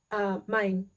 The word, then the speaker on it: Main: I keep saying that like in English because it's spelled the same way. It's Main in das Mittelmeer.